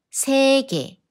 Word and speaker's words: 세계: But when 예 is combined with other consonants, it sounds more natural to pronounce as 에. 시계, no, no. 시계, 시계. 세계, 세계 계란, 계란 지폐, 지폐 화폐, 화폐 폐쇄,